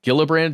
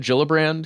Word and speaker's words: Gillibrand: to say her name uh gillibrand gillibrand yeah Gill brand is what I've heard she's from New York